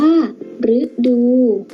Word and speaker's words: ฤดู: นะ คะ เด่น ตัว หรือ ที่ ออก เสียง หรือ เช่น หรือ ดู อ่าน ว่า ฤดู พฤติกรรม อ่าน ว่า